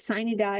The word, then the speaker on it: sine die: They just, I think it's sine die is how they say it, just closed down over the weekend.